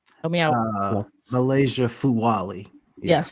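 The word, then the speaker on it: Fulwiley: say her name help me out uh Malaysia Fu W yes Fu W I always want to say fuani flu W um I think she's a fantastic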